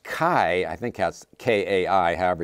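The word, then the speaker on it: χ: greek word for christ is x and it's pronounced kai i think that's k-a-i however you pronounce it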